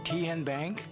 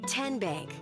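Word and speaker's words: TN Bank: How do you say the name? Ken Bank. Nope. Tin Bank. Uh-uh. So, what is it? Tenbank. 10 as in Tennessee.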